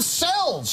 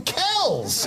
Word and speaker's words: cells: In his video, he mispronounced the word cells. He called them kells.